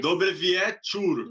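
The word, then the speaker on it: Dobry wieczór: Dobrevietur. Dobrevietur, exatamente. A gente escreve Então, com o O com acento ali, um O com risquinho, e daí se lê como se fosse um U, né?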